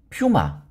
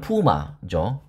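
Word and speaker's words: puma: 저는 어제 유튜브를 우연히 보다가 퓨마, 그러니까 발음은 푸마죠.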